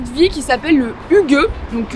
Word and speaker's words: hygge: vie qui s'appelle le HUG donc quand on voit comment c'est écrit on se dit que c'est IG IG on sait pas trop mais ça se prononce HUG qui alors il y